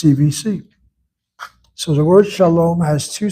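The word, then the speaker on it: שלום: The word is not shalom but shalom. Shalom. Shalom. Long vow closed syllable always must be accented.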